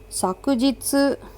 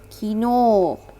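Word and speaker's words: 昨日: Okay, this is sakujitsu. Sakujitsu, you can also read it as kino.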